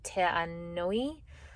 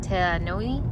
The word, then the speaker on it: Te Anau: Te Anui, not Te Anau. Te Anau. Te Anau. I don't know why he's saying ui, but maybe it's the U at the end.